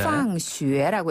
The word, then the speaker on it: 放学: 학교는 바로 放学放学 네, 놓을 방자를 쓰는데요. 네. 방학이라고 읽혀지지만 그 뜻이 아니라 오히려 학교하다라는 뜻이에요. 네. 放学라고 읽어요.